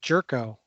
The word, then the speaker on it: Yorko: And he's got a great name, G. Yorko, which is pronounced Jerko.